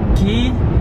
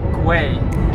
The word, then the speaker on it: Quay: with sunglasses brand called key it's I thought it's called way but I think Kathleen told me yesterday that you have to pronounce it as a key like a key you know like a